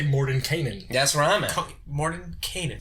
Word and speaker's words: Mordenkainen: I honestly think you could pronounce it both ways. I go Mordenkainen, and that's the right way. And if you want to pronounce it incorrectly, you can go with the other way.